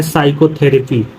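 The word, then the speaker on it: psychotherapy: फिर लिखा है साइक्रेट्रिक्स्ट, फिर लिखा है साइकोथेरेपी, यहाँ देखो यस से पहले पी, यस से पहले पी, ये क्या है पी साइलेंट है।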